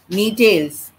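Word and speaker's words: Gnetales: next one next one knee tails g is silent tales this is g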